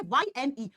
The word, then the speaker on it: yne: Y-N-E, इसका उच्चारण 'yne' होता है।